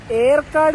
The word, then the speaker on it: Yercaud: കൂടുമ്പോ സേലത്തുനിന്ന് ബസുകൾ കിട്ടും ഈ സ്ഥലത്തിന്റെ ശരിക്കുള്ള ഉച്ചാരണം എയർകാട് എന്നാണ് ഇംഗ്ലീഷിൽ ആണെങ്കിൽ ഏർക്കാട് വൈ ആണല്ലോ ഈ വീഡിയോയിൽ കൂടുതലും ഏർക്കാട്